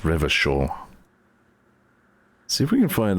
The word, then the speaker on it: Revachol: So there's where it said that that's pronounced Revachol.